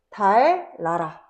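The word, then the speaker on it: 달나라: 대표적으로 달 나라 리을 리을 연달아서 발음되지 않아. 그래서 달라라 달라라 요렇게 발음됩니다.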